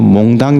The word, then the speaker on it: 몽당: 잡힌 몽땅 몽땅 연필이에요 몽당 연필이에요 어이 표준말은 몽당 연필로 돼 있더라 근데 저는 몽땅 영필 이렇게지고 발음을 그거리 하는데 예 갑자기 은혜가 그냥